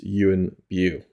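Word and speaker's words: Yuen Biao: like is it you and bow is it you and biao and I've I've now know it's it's pretty much at least this is a much more accurate um pronunciation it's you and you so that was just like oh thank you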